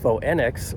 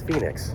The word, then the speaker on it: Phoenix: So, instead of faux nx or faux enix, it's phoenix. Go figure.